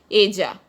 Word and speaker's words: ella: Ella. Double L is pronounced as J in Spanish, so it is pronounced as ella.